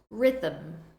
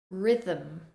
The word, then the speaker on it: rhythm: Listen carefully to the pronunciation. Rhyme, rhyme. And rhythm, rhythm.